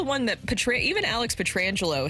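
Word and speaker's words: Pietrangelo: that Petra even Alex petrangelo his name has been mispronounced a lot Pierre McGuire is called Peter Angelo Peter Angelo I like that even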